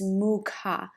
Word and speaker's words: Mukha: The downward facing dog in Sanskrit, it sounds like Adho Mukha Śvānāsana. So there's a different way to pronounce.